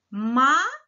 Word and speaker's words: maiô: Nós temos lá maiô. Olha o acento circunflexo na sílaba forte.